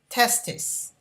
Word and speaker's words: testis: of testis and listen to the way i pronounce it testes testis okay and it's also known as testicles so